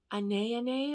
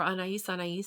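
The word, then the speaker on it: Anaïs: It reminds me of Anais or Anais, depending on how you pronounce it, by Cacharel.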